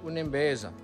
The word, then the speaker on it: Unembeza: So you pronounce it Unembeza.